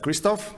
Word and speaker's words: Krzysztof: name is Christoph if you don't know how to pronounce my name it can be just Kristoff it works perfectly fine so I work for